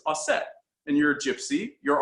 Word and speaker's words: Auset: She's like, so I looked up variations and found the ancient Egyptian pronunciation is Auset.